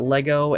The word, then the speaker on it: Lego: I've never heard anybody call it Legos with an S. That sounds like something that maybe you heard one or two Americans say and then figured that all Americans pronounce it that way. But everyone I know calls it Lego.